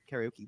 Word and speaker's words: karaoke: Karaoke. Yeah, karaoke is how you say it in Japanese. Like not Really?